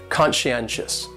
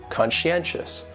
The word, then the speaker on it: conscientious: going on they're so conscientious has four syllables and the stress is on that third syllable that n and conscientious conscientious that second syllable is